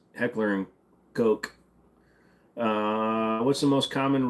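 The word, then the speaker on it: Heckler & Koch: bucks you'll love it why are people afraid of pronouncing Heckler and Coke because it's Heckler and Coke uh what's the most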